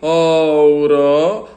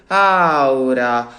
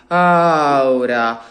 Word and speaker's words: aura: We don't say ora, we say aura, aura.